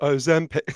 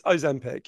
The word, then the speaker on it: Ozempic: So the correct pronunciation is Ozempic. Sorry, if you don't know, that's the extremely annoying jingle in the adverts. It's Ozempic, yeah.